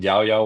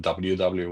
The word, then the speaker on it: EUDI: You can call it Dubda wallet, you can call it Yaoya wallet, you can call it WW wallet or you know or you can just call it the Cyrus wallet.